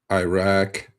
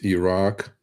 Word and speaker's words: Iraq: It is not Iraq, it's Iraq. At least pronounce it correctly.